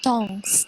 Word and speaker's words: temps: emporté, terus ada lagi tong itu yang TEMPS itu, temps itu dibacanya tong.